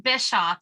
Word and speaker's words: Bischoff: I think it's Bischoff. Is that correct? It's actually Bischoff. The C is silent.